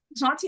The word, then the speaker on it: Jaunty: Jonty, I was like, I wonder how that's spelled because if it's spelled like John, J A Wn, I was gonna start cracking.